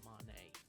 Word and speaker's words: Monet: He wants you to know his name is pronounced Monet, not man.